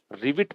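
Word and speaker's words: rivet: अगला सिनोनिम आपसे पूछा रिविट, क्या प्रोनाउंसिएशन है इसका, रिविट पढ़ते हैं इसको, रिवट नहीं पढ़ेंगे, रिविट।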